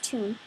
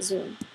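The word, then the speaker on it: 屯: in two different ways in most cases it's pronounce is Tun carrying the meaning of gathering assembling and filling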